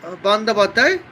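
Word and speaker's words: Bandyopadhyay: It is her English pronounced. Bengal pronounces Mamata Bandapatra.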